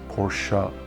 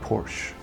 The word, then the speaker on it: Porsche: and say no dude it's porsa not Porsche so I'll try to